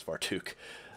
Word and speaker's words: Vartook: percent same thing with vartook um and yes that is actually i know for a fact how you pronounce that that is far took um sam it's the